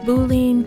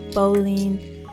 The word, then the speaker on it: boolean: place boolean variables now i've heard it pronounced boolean bolene so i may use either pronunciation interchangeably and i guess you could too i like to think